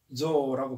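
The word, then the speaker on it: ぞ: 이거는 이제 조라고 발음하죠.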